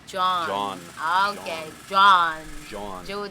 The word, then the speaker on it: Jean: pronounced John. Jean is pronounced John.